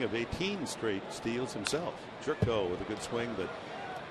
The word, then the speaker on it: Gyorko: Shouldn't it be pronounced Jorko as Orko? Well, I think it depends on the country. See, he's Hungarian, so you know, sometimes the Y is silent, and sometimes O's are pronounced differently. Yeah, it's definitely Jerko, and in fact, I